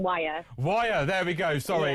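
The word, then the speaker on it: Wyre: It's Lancaster and wire.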